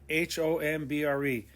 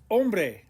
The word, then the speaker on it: hombre: doble point number six the h is in orange because it's silent and not ever pronounced the word for man is ombre h-o-m-b-r-e ombre you don't hear the